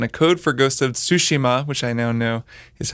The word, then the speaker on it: Tsushima: after I'd gotten a code for Ghost of Tsushima, which I now know is how it's pronounced.